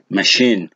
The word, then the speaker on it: machine: examples here you have the word machine machine so here the second syllable is stress you have the word